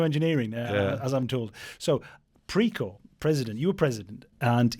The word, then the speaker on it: Precor: Probably the most highprofile uh period of your career uh was in 2020 when as president of uh PRO is it precore or precore?